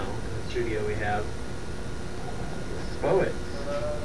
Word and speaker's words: Spo-it: And right now in the studio we have Spo-it. Rhymes with poet, but there's no poet in it.